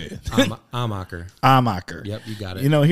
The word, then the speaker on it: Amacher: Oh, people like putting an R in there. Armacher. I think the traditional German was, there was an H at the front, but I don't know. Maybe all munchies. If you pronounce it amateur, you're not too far off.